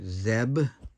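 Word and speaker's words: Zdeb: Ford Jack Billingham Joe Zeb the D is silent I believe not just them Scott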